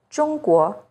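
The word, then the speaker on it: 中国: and in this word, 中国, China. ZH sounds like the first sound in jerky, with the tip of the tongue raised against the hard palate.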